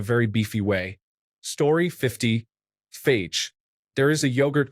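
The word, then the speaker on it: Fage: There is a yogurt called phage, but I thought the E was silent, so I was saying the word that you shouldn't say. Everyone told me I was wrong, but it wasn't until I saw a commercial that I was proven wrong. It is pronounced kind of like phase.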